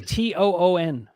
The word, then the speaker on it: Toon: Not even spelled the same. Al Tune was Toon.